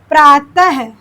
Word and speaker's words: प्रातः: बस आप जानते रहिए प्रातः जैसे प्रातः पूछ लिया अंडरलाइन किया कि प्रातः में क्या है? तो ये विसर्ग है। इसका उच्चारण ह की तरह होता है।